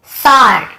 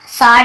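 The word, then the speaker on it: sword: फिर देखिए सॉर्ड, सॉर्ड यानी होता है सॉर्ड, है ना, सोर्ड नहीं, ऐसे सॉर्ड।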